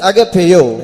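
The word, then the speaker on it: ἀγαπάω: And for that word love in the Greek tongue it means agapeo. இங்கிலீஷ்ல AGAPAO, அதுதான் அதோடைய உச்சரிப்பு. AGAPAO, அகப்பேயோ. And in English the word is pronounced as AGAPEO.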